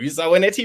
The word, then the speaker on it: Zoanetti: Welcome, Zoanetti Rhymes with Spaghetti.